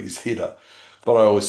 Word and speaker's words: Hidde: Well, that's how you pronounce his name correctly. He's Hida, but I always say Hedy.